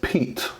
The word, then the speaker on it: Piet: review on the crkt Piet Piet so it is actually pronounced Pete Pete this is a